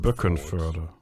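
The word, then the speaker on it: Böckenförde: Gang Block and book and fur. How do you say it? Book and fur.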